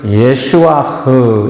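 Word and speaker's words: ישוע: 히브리어 단어를 할 때는 끝에가 해가 붙어 있으면 그래서 예수아흐 이렇게 발음합니다.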